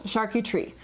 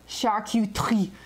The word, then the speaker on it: charcuterie: i just pronounce it okay so three syllables sharky tree okay like if you want to be super frenchy it's like shark you tree because the french they love this like sound coming out of their